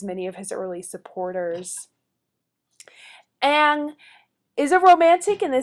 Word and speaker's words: Ingres: By the way, his name is not pronounced Ingress, it is Ang. Ang becomes the new official